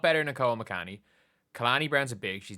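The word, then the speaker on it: Kalani: Oh, it's Khalani Brown, not Khani Brown.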